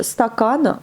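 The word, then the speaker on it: стакан: Et enfin le H, stakan, verre. Ben, partout le A, le N se prononce bien et l'accent sur la deuxième A.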